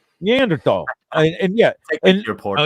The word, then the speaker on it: Neanderthal: you know you see you leave a silent h in there too don't you neanderthal and yeah and you're